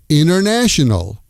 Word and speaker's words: international: International becomes inernational.